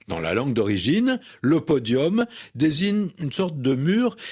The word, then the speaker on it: podium: du XXe siècle et il a gardé un accent latin avec un U qu'on prononce comme un O, podium, prononciation ancienne de cette langue latine qu'on va retrouver dans d'autres mots, podium, forum, décorum, sérum, etc.